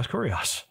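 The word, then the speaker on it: Kyrios: see this out loud it would be pronounced CIO cuos you just pronounce the name as as cuos again and so this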